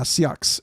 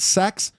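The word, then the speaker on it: seax: Seox. It's s e a ux. It's pronounced seox. Some people pronounce it sax, but you can see some of the the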